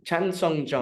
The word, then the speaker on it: Chan Sung Jung: can assist you with my also pretty bad pronunciation of names. they just got him as Korean Zombie. Chan Sung Jung.